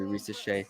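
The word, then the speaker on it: Risacher: I like the way he really tried to pronounce that name. Yeah. He's actually Rizache.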